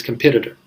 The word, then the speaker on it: competitor: Alright, so it's competitor. The confusing part here is the stress.